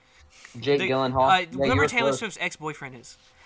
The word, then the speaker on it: Gyllenhaal: know how to say his last name jake gyllenhaal remember taylor ex-boyfriend is like that guy the guy who plays mysterio which one yeah jake gyllenhaal you had it right oh i did okay